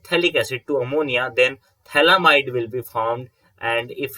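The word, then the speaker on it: phthalimide: formed important to note this compound is known as thalamide okay ph is silent and thalamide and again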